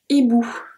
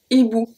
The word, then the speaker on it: hibou: This one, we just saw it, we have un hibou. Un hibou. So the H at the beginning, we don't pronounce it.